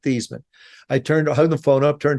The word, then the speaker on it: Theismann: think by just simply changing the pronunciation of your last name from Theismann to Theismann to rhyme with Heisman, we can get you that trophy."